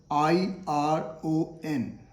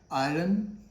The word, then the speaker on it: iron: Similarly, there is another word called I-R-O-N. I-R-O-N. How do you pronounce this? Do you say iron? It is again wrong. It is not iron. R is silent here.